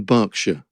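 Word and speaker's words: Berkshire: and not leester Square okay yes that's the pronunciation thing like it's in it's in barkshire oh barkshire yes barkshire okay hurricans hardly happen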